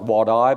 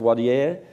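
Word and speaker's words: Wadeye: And we went to Wadi Air, looks like Wadi, but it's pronounced Wadi Air, on the west coast up towards Darwin, and we've done Maningrida to the north.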